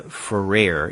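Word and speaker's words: Gförer: I read that it's it rhymes with or sounds a little bit like despair so that would be Julia forare if you don't pronounce the harder even the softer G so if we have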